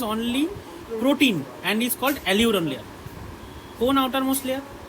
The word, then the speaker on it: aleurone: এলিউরন, হ্যাঁ ঠিক ঠিক, এলিউরন, ALEU, এলিউরন, দুই ভাগ করে নাও একে।